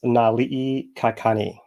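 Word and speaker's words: Naliʻikakani: a name that just came up this is Nali kakani right and I'll spell it n a l i okina i k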